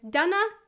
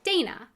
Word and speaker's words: Dana: again, just real quickly: my heritage comes from the Czech Republic, and so that's why I was given the name with the pronunciation "Done-ah" rather than the pronunciation "Day-na."